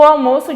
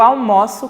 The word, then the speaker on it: almoço: é o verbo almoçar percebo que na primeira eu digo o almoço e na segunda almoço almoço almoço então a pronúncia fica um pouquinho diferente está então quando eu me refiro ao substantivo é almoço e quando me refiro a o ato de almoçar né o verbo é almoço e aí a gente